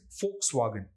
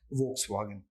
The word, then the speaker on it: Volkswagen: word okay and so if there is any word let's say V O then how would you pronounce it in German for and not woe and so that is why the word is Volkswagen and not Volkswagen I hope mystery solved